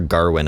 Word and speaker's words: Gawain: and the Green Knight, or Sir Garwin, I guess is how it's supposed to be pronounced. I always said Gawain, so I'm going to keep saying that.